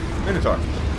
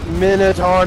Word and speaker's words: Minotaur: Oh, it's a Minotaur. Minotaur, not Minotaur. Minotaur. Don't ever say it like that.